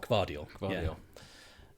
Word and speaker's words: Gvardiol: Gvardiol.